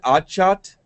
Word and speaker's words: Achath: Do you pronounce it Achath? Correct. Sati We're Achath.